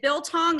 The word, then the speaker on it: biltong: I reached out to Cory after I bought my first little bit of, is it Biltong?